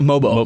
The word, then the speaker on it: Mogbo: The San Francisco kid, Mogbo, is that how you say it? Mobo. Mobo? Mm-hmm. Mobo.